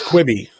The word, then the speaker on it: Quibi: It's Quibi.